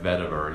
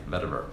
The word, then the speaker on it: vetiver: Most of it, so I said it right, vetiver, yeah, vetiver.